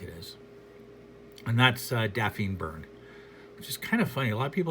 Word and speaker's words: Byrne: His name's John Byrne. We know how to pronounce Burn.